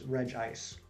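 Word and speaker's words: Regice: people have been pointing out that it's reg ice which it's kind of silly if anything if anything it should be based off of how it's spelled it should be reggie say reggie say yeah reggie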